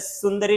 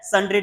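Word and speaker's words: sundry: अच्छा कुछ लोग इसको प्रोनाउंस करते हैं सुंदरी डेटर। सर ये सुंदरी डेटर नहीं है। कौन सा डेटर है? संड्री डेटर है।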